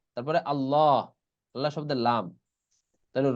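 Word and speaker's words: اللّٰه: আল্লাহ শব্দের লাম উচ্চারণের বিধান দুটি। আল্লাহ শব্দের লামের ডানে যদি জবর কিংবা পেশ থাকে তবে উক্ত লামকে সবসময় মোটা করে পড়তে হয়।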